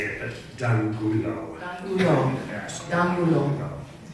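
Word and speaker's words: de Angulo: Many ways to say it, but D'Angulo.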